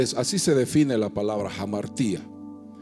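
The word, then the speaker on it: ἁμαρτία: Le voy a decir la palabra exacta es jamartía. se escribe así, ¿no?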